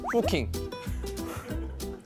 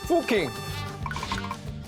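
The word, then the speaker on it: Fucking: 독일어는 유가 우입니다. 아, 그래요? 어로 발음이 안 되고 영어식의 편견이에요. 근데 미국 사람이 왔다고 생각하면 뭐라 읽겠어요? 미국 사람인데 포킹.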